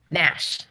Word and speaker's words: Gnash: damn cat's name is Nash with a G. What the heck is ganache? The G is silent, like a real gangster.